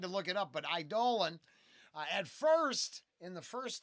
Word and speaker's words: Eidolon: this, that, or the other, but over here, Eidolon.